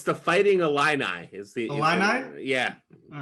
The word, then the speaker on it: Illini: It's the Fighting Illini.